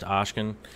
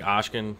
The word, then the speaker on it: Oscen: it's pronounced Oscen, but who knows?